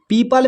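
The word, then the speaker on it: people: यहाँ पर देखिए पीपल, पीपल में जो है ई और ओ दोनों एक साथ है, ई के बाद ओ है तो ओ यहाँ पर साइलेंट है।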